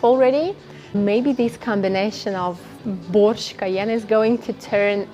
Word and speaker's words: borsch: the play on words the German brand Porsche in simple Russian sounds like Porsche okay so Bosch the soup and Porsche the car they sound pretty much the same don't they uh